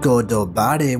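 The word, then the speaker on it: ゴッドバレー: and the celestial dragons in japanese god valley is pronounced godobari which means the land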